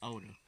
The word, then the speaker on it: Oda: Ida? That's not how you say his name. That's it. Well, that's what you have on there. Ida. Oh, you was like Oda.